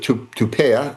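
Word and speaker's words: Tuapse: they just hit the port of Tupea, I believe it's pronounced.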